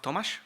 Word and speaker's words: Tomáš: So I think in Czech it's pronounced Tomáš or not?